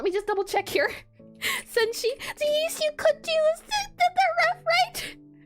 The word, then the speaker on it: Senshi: Senshi, yes, you could do the ref right.